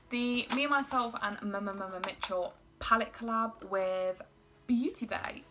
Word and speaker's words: Mmmmitchell: I know it's Mitchell, but it's so much more fun to say it like that. The Me, Myself and Mmmmitchell palette collab with Beauty Bay.